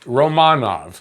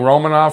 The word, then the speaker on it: Romanov: And I'm saying it like that because apparently that's how his name is pronounced, Romanov. We've been saying Romanov for so long, it sounds weird, but Romanov gets his first goal.